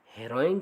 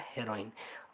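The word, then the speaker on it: heroin: तो इसका correct option होगा हेरोइन। बहुत से स्टूडेंट्स इसका प्रोनाउंसिएशन गलत करते हैं, हीरोइन करते हैं, हीरोइन नहीं हेरोइन होता है, तो ऑप्शन नंबर बी करेक्ट होगा।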